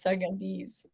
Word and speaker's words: Sudanese: It's Sudanese.